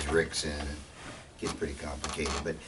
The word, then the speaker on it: Rickson: And many of their names start with R, but pronounced as an H. In Portuguese, when the R is in the front of the word, it's pronounced as an H. So here in America, everybody thinks that Royce's name is Royce, and Dixon is Rickson.